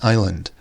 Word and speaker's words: island: or is 'land but the S is silent it should be Island it should not sound the same as Iceland confusingly enough the country